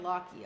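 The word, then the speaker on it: Lachie: Pronounced like Lockie, okay. A Scottish name that's popular in Australia.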